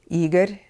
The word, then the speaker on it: Igor: is so familiar in the West Igor Stravinsky eager Stravinsky now going to more more and more